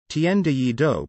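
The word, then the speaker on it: 天地一鬥: jae chow's single the heaven and earth challenge tienda yee doe pronounced tnde do the proceeds for downloads of both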